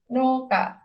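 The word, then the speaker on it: 農家: Nah, ini teman-teman pasti udah tahu ya apa Noka, petani. Jadi seperti yang tadi, walaupun tulisannya Keisatsukan, kita bacanya panjang, Keisatsuka gitu. Nah, ini juga gitu. Tulisannya no uka, tapi kita bacanya tetap panjang, Noka.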